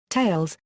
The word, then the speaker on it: Thales: The name is pronounced Thales, reflecting the French language pronunciation of the philosopher's name.